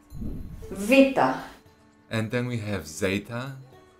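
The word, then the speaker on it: βήτα: Just listen how beta is pronounced in modern Greek. Vita.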